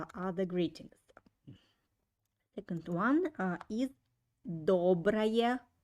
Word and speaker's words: доброе: Pay attention that доброе, first O I pronounce like O, and second O I pronounce like A. Доброе.